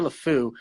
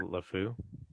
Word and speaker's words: Le Fou: They pronounce it Le Fou? Pierre Le Fou, F-O-U.